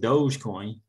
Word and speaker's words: Dogecoin: Yeah, and it is pronounced Dogecoin.